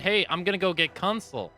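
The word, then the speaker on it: Kunsel: They said, "Hey, I'm gonna go get Consul," or I think that's how you pronounce his name, Consel.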